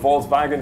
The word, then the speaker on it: Volkswagen: We are here in association with Volkswagen, so thank you very much. That was a very German pronunciation.